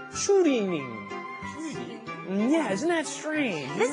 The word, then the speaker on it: 추리닝: The Korean pronunciation is 추리닝.